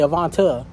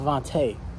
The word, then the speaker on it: Avante: He would always say Avanta instead of Avante.